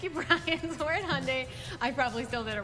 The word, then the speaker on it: Hyundai: Hyundai. Yep, Hyundai. The most difficult one for me to pronounce.